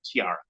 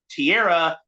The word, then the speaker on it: tiara: and yes I realize I keep switching back and forth between the pronunciation of the word Tierra Tiara whatever I don't care they both uh they both are valid pronunciations so it's fine so